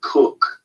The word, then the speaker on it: Koch: Now there's many variations because there's a beer in New York State that's spelled Koch, but it's called Cook.